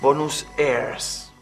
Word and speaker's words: Buenos Aires: junto con el extraño nombre de Buenos Aires, que ellos pronunciaban Bonus airs.